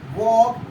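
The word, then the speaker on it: walk: हम फिर से पढ़ते हैं, चॉक, वॉक एंड चॉक, टॉक, वॉक, टॉक। ठीक हो गया। इस तरह से हम एल को साइलेंट रखेंगे।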